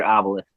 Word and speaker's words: Obelus: no harm no foul it's pronounced ID as one word obelisk okay it Obelisk yeah